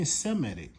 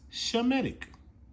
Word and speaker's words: Shemetic: So whenever you see somebody saying Seemedic, they going off. Okay, that's newsfeed. It's Shemetic.